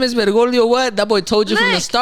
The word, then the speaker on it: Bergoglio: it's Bergoglio. Bergoglio. It already sounds like you gargling whenever you say his name.